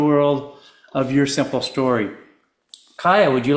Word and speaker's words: Kaia: Go ahead and pronounce it for me the way you prefer it. It's Kaia.